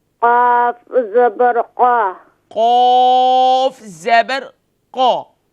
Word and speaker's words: قاف: Qaf is pronounced more full mouth, please. قاف زبر قا. Qaf زبر قا. قاف زبر قا.